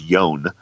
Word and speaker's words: Yone: was my best friend whose name is yone rhymes with phone yone who's this kid that